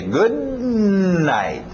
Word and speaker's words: good night: O D e o N não vão bater muito bem, vão chocar. Então engole esse D. Good night. E o T no final também.